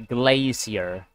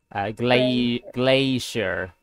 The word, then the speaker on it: glacier: But in the American pronunciation, it'd be glacier. Glacier. But in the British pronunciation, it's glacier.